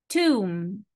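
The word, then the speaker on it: tomb: visit guide guide Tom Tom B silent letter Tom exciting exciting interesting interesting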